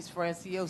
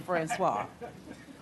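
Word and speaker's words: François: I hate when people mispronounce my name. They call me Francois Francios. So Francisco everything but Francois.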